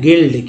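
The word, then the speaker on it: guild: गया, उच्चारण है गाइड, इसे पढ़ें गिल्ड, क्योंकि यू के पहले यहाँ भी जी है तो यू जो है यहाँ पर साइलेंट हो गया।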